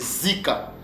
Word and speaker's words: zika: pères le prononcer ou se prononceent Zika c'est pas Zeka mais c'est Zika alors que signifie Zika